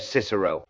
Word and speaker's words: Cicero: English court, you said Cicero, the S sound in the middle, the soft say at the start.